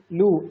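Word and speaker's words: lure: कौन अच्छी पिला माने लू लू आर टा साइलेंट रहिबो लू ता माने प्रलोभित करवा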